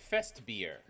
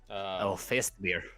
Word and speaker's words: Festbier: It is Fest beer. Fest beer. Fest beer. It's spelled German as well.